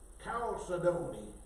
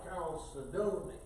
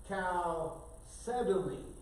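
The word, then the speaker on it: chalcedony: And I put the accent on the d o n y, calcedony. And they said you put it on the second syllable. Calcedony.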